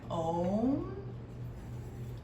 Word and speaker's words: Om: And it's spelled O-M. How do you think that sounds? Is it like Om? Or is it like Om? So we're gonna say Om.